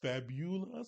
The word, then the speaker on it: Fabula: It's Fabula, so kind of really emphasizing the U, and Fabula.